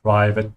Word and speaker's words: privat: Just make sure you pronounce the A with an open A, privat.